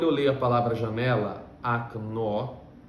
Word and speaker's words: окно: Mas quando a letra O não está em uma sílaba tônica, a gente pronuncia ela como um A.